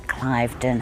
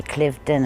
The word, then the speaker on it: Cliveden: We have a Cliveden house. Some people want to say Cliveden and it's Cliveden, things like that.